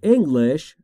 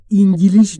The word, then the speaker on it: English: تلفظش رو دقت بفرمایید. English. English. انگلیش نگید دوستان. English. English. English.